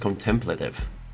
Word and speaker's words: contemplative: I thought that's pronounced contemplative. I don't know. That's correct. Emphasis on the second syllable.